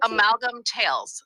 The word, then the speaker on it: Amalgam Tales: Amalgam Tales.